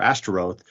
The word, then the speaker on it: Ashtoreth: you're changing the vowels to match with a Hebrew term, boshet, which is the word for shame. Yeah, the O and the E vowel, yeah. Exactly. So now whenever you as an Israelite are pronouncing the Ashtoreth or Ashtaroth, you're reminded that this is shameful because you're using those vowels, which correspond to the word for shame, for this deity.